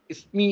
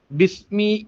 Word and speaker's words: ബിസ്മി: പലരും ബിസ്മില്ലാഹി റഹ്മാനി റഹീം ഇസ്മി ഇസ്മി എന്ന് തുടങ്ങുന്നത് കാണാം കേൾക്കാം ബാഇന്റെ കറക്റ്റ് ഉള്ള ഉച്ചാരണം വരുന്നില്ല ബിസ്മി എന്നാണ് ഉച്ചരിക്കേണ്ടത് അവിടെ ബിസ്മില്ലാഹി റഹ്മാനി റഹീം